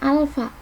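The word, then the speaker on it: α: Hai Di sini ada ada kayak Aa tapi bukan dibaca a nah yang kayak gini dibacanya Alfa nah dia MB ini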